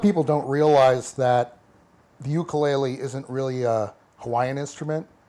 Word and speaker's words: ukulele: pop popularize the uh I'll use the correct Hawaiian uh pronunciation ukulele ukulele is what they they